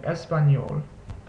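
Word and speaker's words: español: the squiggle on top it's pronounced like the ni sound in the English word onion so think of it as like an ny together so n an and espanol next letter is the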